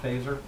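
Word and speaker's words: Feser: And Fazer, I mean, it's F-E-S-E-R, which is Fezer, and I think because of Star Wars, he pronounces it Phaser, just to be cool.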